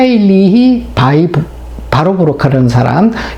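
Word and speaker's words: Warburg: 우토 하 일이 바이브 바로 부록 앓은 사람 이게 이제 이름이 이렇게 바로바로 근데 미국 신발 발음으로는 와 버그라고 그래요 그 박사 연구진은 어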